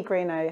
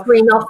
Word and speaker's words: Greenough: Unfortunately, Elaine can't be with us today, so joining us is Greenow, Hilltop and Caldwell's big local officer. am I pronouncing your name correctly? It's Greenough, but that's absolutely Greenough.